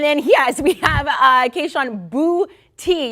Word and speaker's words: Booty: yes we have uh boo tea you were telling me this is exactly how you say it emphasis on the boo but he hadn't had